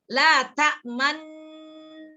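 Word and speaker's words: لا تأمنّا: La ta'manun di domah ada nun lagi. Mestinya dibacanya kan guna. Jadi ditekannya kayak guna, ngucapinnya kayak ada domah gitu. La, liatin mulut Bunda. La ta'manna. Dibacanya kayak guna. La ta'manna. Dengernya gitu. Tapi prakteknya mulutnya monyong. Jadi prakteknya seperti la ta'manunna, tapi enggak baca la ta'manunna, enggak gitu.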